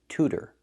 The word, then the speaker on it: tutor: The word is not pronounced like this. It's pronounced to. Tutor.